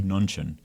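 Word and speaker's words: Mnuchin: I think I think the m is silent so it's Steve nunin uh he was a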